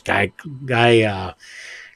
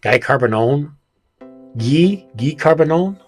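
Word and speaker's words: Guy Carbonneau: Guy Carbonone, Guy Carbonone, I believe is how it's pronounced.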